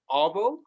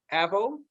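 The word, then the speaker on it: arvo: Like, for instance, they called avocado avo, and they say, and they the way they pronounce afternoon is avo, avo.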